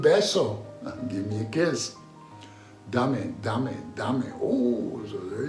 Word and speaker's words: dame: Dame. That's how you say it. Dame. Again, da-me.